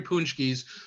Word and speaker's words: Paczki: that is infused with punchkis. What a punchki is, which is spelled Paczki, and of course does not match the pronunciation at all.